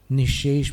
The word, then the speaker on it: निःशेष: निःशेष में प्रथम शय का उच्चारण तालव्य है, इसलिए जीभ नीचे जाएगी, नीचे वाले दांतों की पंक्ति के पीछे की तरफ जाएगी शे, और उसके बाद जो षटकोण वाला श है उसके लिए जीभ ऊपर जाएगी, ऊपर के दांतों के पीछे।